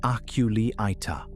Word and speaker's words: Aculeata: Scientists call that whole group the Aculeata, pronounced Aculeata, which translates roughly to the stinging ones.